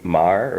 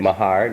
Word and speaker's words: Maher: younger brother now is the right pronunciation of your name in Ireland to Mar or was it my hard no no it's Mar Mar alright and it felt